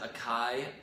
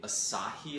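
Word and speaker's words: açaí: I've always said Acai, apparently Acai is how you say it.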